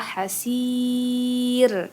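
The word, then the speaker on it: حسير: Terus ro-nya gimana cara bacanya? Itu ditebalkan apa? Tipis. Ya, tipis ya. Hasir. Jadi itu tarqi namanya. Jadi cara baca ro-nya tarqi. Kenapa tarqi? Karena di sana ada ya sukun sebelum ro itu ya, sebelum ro yang akan disukunkan. Kemudian sebelumnya juga ada kasro gitu ya. Nah, jadi teman-teman bacanya tipis ya.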